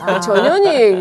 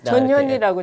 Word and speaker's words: 전현희: 발음을 주의해야 돼요. 전현희 예, 될 수가 있거든요. 전현. 저희도 아주 조심해서 부릅니다. 조심해서 전현희. 전현희라고 제가 네.